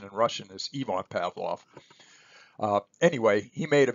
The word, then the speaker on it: Ivan Pavlov: sometimes hear other folks refer to him as Ivan Pavlov and in fact you're going to see a